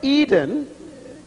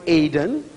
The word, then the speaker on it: Eden: The word Eden is actually the word Aden, A-D-E-N. We spell it Eden in English, and it actually has a lot of meanings.